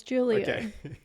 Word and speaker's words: Julio: his name Julio Julio no it's Julio I triple double check this cuz I've heard different people say different things but it's definitely Julio yeah straight from yeah